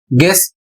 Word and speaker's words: guess: जैसे यहां पर लिखा है GUESS और इसे पढ़ा जाएगा गेस, इसकी हिंदी अंदाजा लगाना।